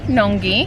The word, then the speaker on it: Nungwi: I'm saying goodbye to New Teddy's and off we go, off to Nungwi. I'm so mispronouncing this name, I'm so sorry. How do you pronounce it? Nungwi? Nungwi? Nungwi. Nungwi. Yeah, Nungwi. Nungwi.